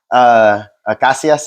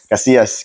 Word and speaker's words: Casias: Casias, is that how you pronounce it in Spanish? How do you say it in Spanish? Casillas. Casillas.